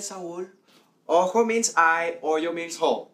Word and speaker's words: ojo: Ojo means eye, hoyo means hole.